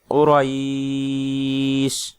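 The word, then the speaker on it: قريش: সাকিন হয়ে যাবে এবং এখানে আমাদের উচ্চারণ হবে কুরাইশ। 3 আলিফ পরিমাণ টান হবে ইয়াতে এবং আমাদের 3 আলিফ পরিমাণ টান হবে এবং শিনটা সাকিনে পরিবর্তন হয়ে যাবে।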